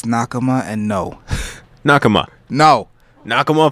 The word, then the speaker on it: Nakama: New Nakara, right? Is that how you pronounce it? It's Nakama and no.